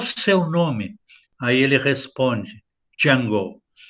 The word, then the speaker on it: Django: Aí ele responde, Django. E aí o Franco Nero diz para ele, você pode me soletrar? Aí ele soletra. Aí ele diz assim, o D é silent, o D é mudo.